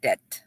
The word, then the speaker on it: debt: personal relations incurring huge Dept to pay off fees and huge Dept not dep B is silent okay Deb yes okay huge debt